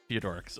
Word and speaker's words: Theodorix: It's pronounced Theodorix.